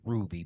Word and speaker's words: RWBY: know it's RWBY but they pronounce it as Ruby because that's what the show is about but the RWBY is